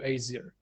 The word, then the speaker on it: Aesir: Aesir, right? I'm pronouncing that right.